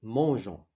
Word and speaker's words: mangeons: Donc, la terminaison c'est ONS et on a ajouté un E ici devant O, la lettre ou bien la voyelle O, pour prononcer mangeons.